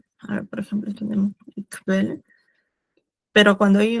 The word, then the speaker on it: Quelle: Casi como en español, pero esta Q, U se pronuncia como una K, B chica, ¿no? Quelle, y se pronuncia bien la K, no es Quelle, sino, por ejemplo, en este caso sería Quelle, se pronunciaría así, Quelle.